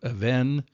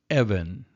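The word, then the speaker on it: אבן: So instead of Aven, it's Evan, Evan. So that's one way to note which syllable. If you have the double vowels working together on that, then it changes the accent to the first syllable rather than the last.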